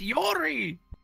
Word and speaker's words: Yuri: In the distance, you hear, it's pronounced Yori.